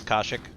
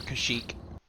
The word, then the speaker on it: Kashyyyk: of this game is kashik or kashyyyk depending how you want to pronounce it but uh the